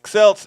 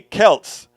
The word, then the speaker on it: Celts: Celts is not Celts, it's Celts. Even though they do call it the Celtics, not the Celtics.